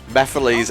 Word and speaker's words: Mephiles: steps in well krex Mephiles is pronounced like that he mispronounced it he he it was such a mispronunciation that everyone came out and was like why are you calling him that I am pitting the